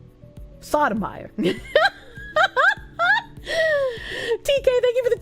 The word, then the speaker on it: Sotomayor: It's pronounced Sotomior. Sotomior. Sotomior. Sotomayor.